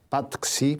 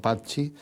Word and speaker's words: Patxi: que cantábamos tus canciones, te pronunciábamos mal, decíamos Patxi, porque leíamos como se suele leer en el español, claro, y no Patxi.